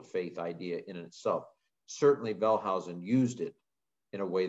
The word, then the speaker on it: Wellhausen: The theory was put forth by a guy named Julius Wellhausen, spelled Julius Wellhausen if you're looking at it from an English lens, but in German it's Julius Wellhausen, who was at Tübingen in Germany.